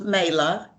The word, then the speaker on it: Mayla: joint podcast hello first off um it's pronounced mela everybody makes that mistake i'm sorry no it's